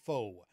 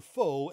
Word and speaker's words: Faux: I do have to say, though, in some regions of the U.S., Dr. Faux, F-A-U-X, will never be pronounced that way.